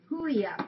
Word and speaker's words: Huia: Huia, pronounced as Huia.